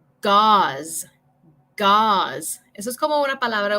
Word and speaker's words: gauze: So, envía tus respuestas aquí y voy a decir como las palabras para que ustedes puedan escuchar la pronunciación. So, number 1, gauze. Gauze.